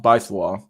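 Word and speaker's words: Baizuo: They can pronounce by Zuo. Oh, by Swa. Pronounced Baiswa.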